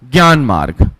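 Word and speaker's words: Gyan Marg: the status of moksha gyanmark janan mark phonetically and it's pronounced as gyanmark and with emphasis more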